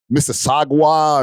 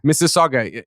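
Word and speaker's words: Mississauga: people botch up Miss Saga they call it Mr Sagwa or Sagwa that they went crazy with the pronunciation yo it's literally like how you you know how they have Mississippi Miss Saga Mississippi is MSS I PPI Miss Saga is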